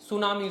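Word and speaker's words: tsunami: सारे ऐसे वर्ड हैं सुनामी सुनामी क्या है टी से स्टार्ट होता है है कि नहीं तो कई सारे मैं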